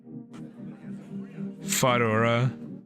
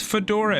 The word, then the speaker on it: Fedora: summon a monster okay fodora that's a funny name it's Fedora everybody that's how you say it use a monster effect